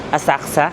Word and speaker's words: Asakusa: Hindi daw pala pinapronounce yung letter U. Sabi nung isang nag-comment sa vlog, hindi daw pinopronounce yung letter U sa Asakusa. So, Asakusa, ganun.